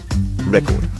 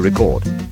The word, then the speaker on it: record: In stress with nouns, the stress is on the first syllable, with verb citizen the second.